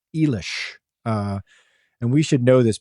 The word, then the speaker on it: Eilish: I was corrected by a listener who says, I believe it's pronounced Eilish.